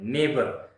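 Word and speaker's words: neighbour: नेबर के spelling सबके लिए बहुत मुश्किल होते हैं, नेबर। अब ध्यान दीजिएगा, NEIGH, एन को न बोलिए और EIGH को ए बोलिए, ने हो गया।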